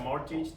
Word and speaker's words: mortgage: bank and take a mortgage, take a loan, or manage your taxes, so I think it's useful. Okay, just be careful. How do you pronounce this word? Mortgage. Do not pronounce the T.